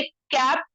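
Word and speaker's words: cape: नहीं, लेकिन ठीक है, ई को लिखेंगे लेकिन पढ़ेंगे नहीं। ई क्या है? साइलेंट है। और ए जो है, जो ये ए है, ये लॉन्ग ए हो जाएगा। पहले कैप था, कैप, अब हो जाएगा केप।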